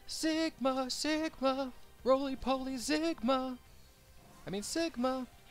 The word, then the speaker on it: Sigma: I mean Sigma. I used to pronounce his name Sigma all the time. It's like, there's no Z, Leland. Where are you getting that?